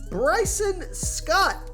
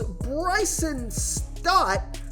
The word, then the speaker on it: Bryson Stott: I like Bryson Scott. I say that name wrong every time. It's Bryson Stott.